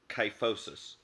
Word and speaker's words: kyphosis: from drinking bad water there's also cuff which starts with the letter K like kyphosis kyphosis is a spinal